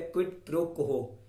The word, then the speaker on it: quid pro quo: में बोला जाता है क्विड प्रो कोहो। Okay, क्विड प्रो कोहो। क्विड की spelling QUID PRO QUO। QUO को बोलते हैं कोहो।